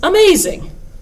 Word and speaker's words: amazing: When you look at a word like amazing, for some reason, growing up, we learn that you put the accent on the maze part and say amazing. You don't say amazing or amazing. It's amazing, amazing.